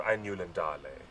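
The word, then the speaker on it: Ainulindalë: I still get people who correct me on the pronunciation of Ainulin Dale.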